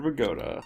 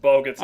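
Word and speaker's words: Bogotá: I can search for Bogota. Bogota. Is that how you pronounce that? Yes, that's pronounced Bogota.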